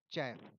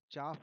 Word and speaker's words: chaff: So now we are coming to the Hindu's editorial, grain and chaff or chaff. Both pronunciation are chaff and chaff, both are correct.